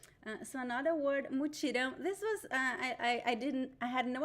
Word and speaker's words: mutirão: So pay attention to the pronunciation of the the nasal sound. In the indigenous language, it was just one sound, but in Portuguese it is So we have two vowels. It is a diphthong, a nasal diphthong. So you need to pronounce the two vowels.